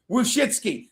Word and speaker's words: Wojcicki: Wojcicki.